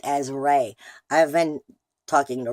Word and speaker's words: Ra: with the God the Egyptian god known as raw and is actually supposed to be pronounced as ray I have been talking to Ross since I